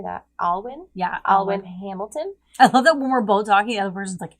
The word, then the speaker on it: Alwyn: Alwyn?